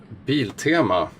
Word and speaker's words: Biltema: And yeah, that's the circular padlock from Biltema, the correct Swedish pronunciation.